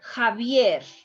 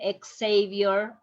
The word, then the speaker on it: Javier: especially in proper names javier when a patient is coming with this name please please don't tell him ex-savior that's not name is javier remember the x is going to be like